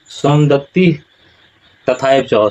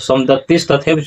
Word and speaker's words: सोमदत्ति: यहाँ पर लोग उच्चारण करते हैं क्या, सोमदत्तिस तथैव च, ऐसा उच्चारण नहीं होगा। उच्चारण क्या होगा, यहाँ पर देख लीजिए सोमदत्ति जोड़ तथा जोड़ एव, सोमदत्ति तथा एव च, सोमदत्ति तथा एव च,